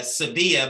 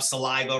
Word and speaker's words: Sevilla: nailed it all right mine is uh sevilla but i have to say sevilla here in the south because they can't pronounce i get called saliva sylvia savalas i've been called everything